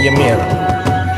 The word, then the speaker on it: Ymir: Judul gamenya adalah Legend of Ymir ya, dibacanya Ymir.